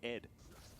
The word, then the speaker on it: ADD: And you're supposed to pronounce it Ed.